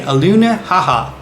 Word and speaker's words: Alenuihaha: Once again, to say it, let me just spell it out first. A L E N UI H A H A. Aluna haha.